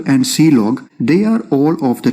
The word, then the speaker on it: clog: standard errors and then the last one is clog which is pronounced as c log and this is used